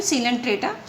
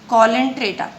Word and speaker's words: Coelenterata: it is pronounced as Coelenterata. But according to the American English, it is considered or it is pronounced as a Coelenterata.